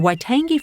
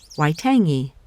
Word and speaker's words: Waitangi: didn't pass it the Waitangi forest though I am told is a soft G so the name sounds kind of like describing the reason I might love a tasty morsel i tangy waitangi it's just me this